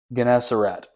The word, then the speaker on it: Gennesaret: God, he was standing by the lake of Gennesaret, I think is how you say that, which is there, the Sea of Galilee.